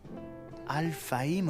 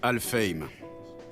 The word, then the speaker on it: Alfheim: Alphaim Online? Ça doit se prononcer Alfheim.